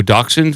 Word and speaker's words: Dachshund: No. Dachshund. Why? Where's the X? Huh? It's It's German, man. No, I don't think the X is spelled C HS.